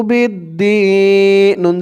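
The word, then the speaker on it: بِالدِّينِ: পরে দেখুন এই বা দিয়ে এই তাসদিদ ওয়ালা দাল ধরবে, মাঝখানে আলিফ এবং লাম দুইটা অক্ষর বাদ যাবে। বা দাল জের বিদ, দালিয়াজের দি, বা'দু বিদ্দি। নুন জের নি, বা'দু বিদ্দিন।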